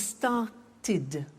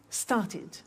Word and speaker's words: started: actually easy if a verb ends with a T or D then the pronunciation of II D becomes it and in fact it's impossible to pronounce it any other way take an example start